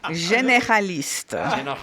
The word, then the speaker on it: généraliste: That's a French word that Americans mispronounce. Généraliste.